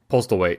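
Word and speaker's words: Postlethwaite: I don't know how to pronounce his last name. Oh, Postlewaite.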